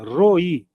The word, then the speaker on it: Roi: Às vezes eu até esqueço de colocar, mas enfim, a pronúncia é essa. Roi, R o I. E o assento no finalzinho, né? No i. Roi.